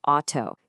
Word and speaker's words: Auto: Exactly like the sound in the English word house or mouse. Let's just say that sound together. Ow. Got it? Now, let's see how this one tiny rule lets you pronounce a bunch of German words perfectly. Just look at how consistent this is. For the word car, we have auto. Can you hear that right at the beginning? Auto.